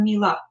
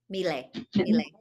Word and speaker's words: Miele: always say it wrong, is it Miele or Mila? Miele.